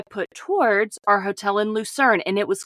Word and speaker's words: Lucerne: Geneva and last you mentioned you were in lucern did I pronounce that right that's correct lucern so okay let's start with your accommodations there